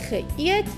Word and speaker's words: geëet: we will divide the word geëet into 2 syllables. Ge is our first syllable and eet is our second syllable.